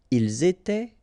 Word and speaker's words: étaient: nous étions, vous étiez, ils étaient, elles étaient. All right, so exactly the same rule. Remember, final S here, here, final T, and then here, E-N-T. You don't pronounce them.